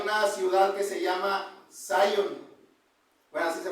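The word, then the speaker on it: Zion: de Linois hay una ciudad que se llama Sun. Bueno, así se pronuncia en inglés, Sun, pero en español pues es es Sion, ¿verdad?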